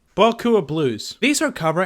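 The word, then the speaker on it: Beaucoups: The P is silent. Boku of Blues.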